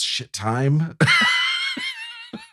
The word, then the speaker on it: Shittim: Maybe it's shit time. It's spelled pretty phonetically, though. It's Shittim. Okay. Shittim, yeah. Shittim. Yeah. Shittim. Maybe it's, it might better be pronounced that way.